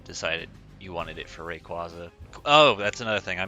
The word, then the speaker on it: Rayquaza: it if you decided you wanted it for rayquaza oh that's another thing i meant to say at the beginning yes i know it's technically pronounced rayquaza i've spent like 15 years of my life